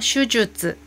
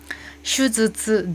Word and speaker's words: 手術: 그리고 여기서는 발음하기 어려운 단어 슈주츠, 슈즈츠, 즈츠 발음하시면 안 되고 슈주츠인데요.